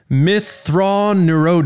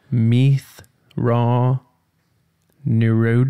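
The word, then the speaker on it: Mitth'raw'nuruodo: Thrawn erode oh no ok well i can't pronounce it but i can tell you what you just said does not ring a bell at all compared to what i've heard in the audiobook Meath raw new road oh I never do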